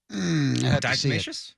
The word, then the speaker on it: diatomaceous: situation, the kind of homegrown solution, is this diatomaceous. How do you say it? The diatomaceous earth. You know how to say it, Crows, don't you? Diatomaceous?